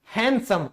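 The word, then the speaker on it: handsome: लिखे हैं जैसे सैंडविच हैंडसम अब पता चल गया डी से पहले क्योंकि एन आया है इसीलिए डी हमारा साइलेंट है याद रखो इस बात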